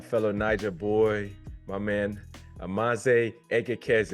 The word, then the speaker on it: Amanze Egekeze: Niger boy, my man, Amanze Egekeze. Is that how you say it? Yes, sir. Did I get it Perfect. right? You got it.